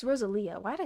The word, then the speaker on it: Rosalia: No, it's Rosalia.